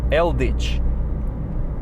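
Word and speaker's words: Eldič: real name actually guys and my surname is eldich now if i want to spell that for you so but e-l-d-i c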